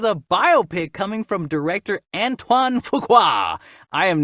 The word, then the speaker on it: Antoine Fuqua: is it that is that correct all right Antoine Fuqua yep there's so many names today that I don't know how to pronounce and I'm having fun all right so